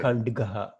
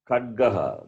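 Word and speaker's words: खड्गः: It is a Dakara. Okay. Kandgaha. Kandgaha. Kadgaha, not Kand. Where is the Oh, sorry. nasal sound? Kadgaha. There is Yes, no nasal at all. Kadgaha. Kadgaha. Kadgaha means sword. It is Kadgaha. The nasal will have a dot. The nasal letter will have a dot to the right of it. There is no dot here.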